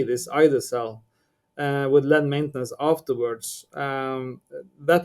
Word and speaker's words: ide-cel: We others we just call it Ide-cel, and that's two syllables for you.